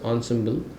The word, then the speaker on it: ensemble: like an ensemble model so it's pronounced as ens symble which basically is nothing